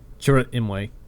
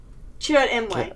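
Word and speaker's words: Chirrut Îmwe: Leo, you're gonna have to tell me how this name is pronounced because I cannot make his Imwe. name. What? Chirrut Imwe. Chirrut Imwe.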